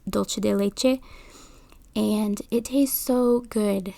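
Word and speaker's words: dulce de leche: sometimes she adds uh dosi de lechi or as in Spanish it's dolce de leche and it tastes so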